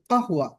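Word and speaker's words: قهوة: তো এই কাহওয়া, এটাকে আঞ্চলিক আরবিতে গাহওয়া বলা হয়, গাহওয়া, কারণ আমরা জানি কফ, কফটাকে আঞ্চলিক আরবিতে গয়নের মতো উচ্চারণ করে, গা, গাহওয়া।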